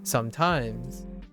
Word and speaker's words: sometimes: What is the accent on sometimes? It's on the first syllable, right? Sometimes.